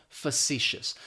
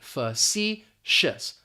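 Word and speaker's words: facetious: it may not be pronounced the way that it's spelled. Facicious. That first syllable is going to have that schwah, that fu. And we're just basically going to pronounce the letter C. Facicious. Facicious.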